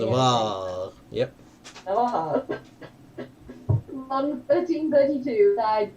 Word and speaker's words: Navarre: Told you I'm bad at pronouncing it. Navarre.